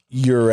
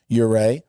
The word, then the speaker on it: Ure: This is pronounced Ure, I believe. Right, I got clarification on that today. Ure.